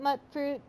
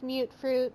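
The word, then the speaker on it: mutfruit: I call it mut fruit. It's actually pronounced mute fruit, so you'll have to forgive me for that.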